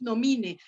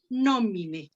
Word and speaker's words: nomine: ¿Por qué no decimos nomine? Porque la penúltima, esta que estoy señalando, vean cómo no tiene marca de larga. Entonces, eso va a ser nomine. Se va el acento hasta la penúltima sílaba.